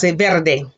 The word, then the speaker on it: verde: now the word for green is verde repeat verde and there are those where your tongue will